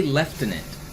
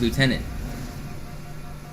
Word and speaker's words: lieutenant: They say leftinate. They add an F. So, they even sometimes spell it with an F, but left inant is how they say it instead of lieutenant.